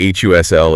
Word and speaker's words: hustle: Oh yeah, you hear them together constantly in phrases like the H U S L and B U S L of the city. Right. Your brain sees the letters and might scream H U S T L, but the reality is smooth and flowing.